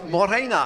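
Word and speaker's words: Mōrena: And there's an email too from a friend James, who says Morena. I think that's how you pronounce it. It says good morning. That's in Maori.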